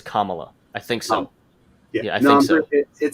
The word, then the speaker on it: Kamala: don't want to pronounce her name wrong. Um, Kamala makes me think of her with a camel body. I think Camel it's like I that. think pronunciation wise it's Kamala.